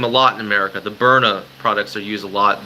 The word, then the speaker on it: Byrna: It's pronounced Iron Man B-Y-R-N-A. Byrna. Byrna, it's pronounced. It's pronounced B-I-R-N-Y.